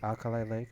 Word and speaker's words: Alkali Lake: name again cali lake alkali alkali lake okay like alkaline alkaline batteries it's it's from the